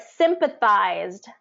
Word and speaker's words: sympathized: the wrong syllable so it is first syllable stress all right sympathized first syllable stress and it has a long I in there um sympathized sympathized sympathized